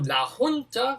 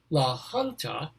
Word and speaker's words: La Junta: will be going to la junta i'm sorry la hunter important that i pronounce it right la junta colorado we'll